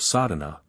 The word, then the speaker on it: Sadhana: A word may be added about the pronouncing of sadhana. The accent falls decisively on the first A, which has the broad sound of the letter.